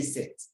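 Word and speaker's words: cette: why do you say set to have a look at it sex another set c e t t e this time around we have different spelling of the sets but the same pronunciation before a feminine singular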